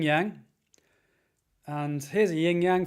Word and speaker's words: yang: Yang being the white, Yang with fang. Yang rhymes with fang. Think about a white fang.